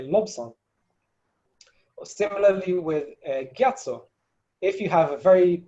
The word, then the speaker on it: Gyatso: also for tibetans to say lobson yeah to pronounce that ba and say lobson similarly with a gyatso if you have a very pure lasake then